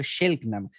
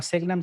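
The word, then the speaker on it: Selk'nam: Incluso la palabra correcta, la traducción correcta debería ser Shelknam, ya que la S en idioma Selknam se debería pronunciar como si llevara una H después.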